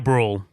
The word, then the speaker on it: Brühl: gonna butcher this guy's name how do you pronounce this Daniel or David Daniel Bruhl rule okay and it directed by Ron Howard I